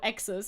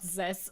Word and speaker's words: X's: Oh, X's, yeah, it's not Zess.